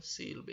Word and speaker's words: sílaba: O si é a sílaba tônica, então ela é a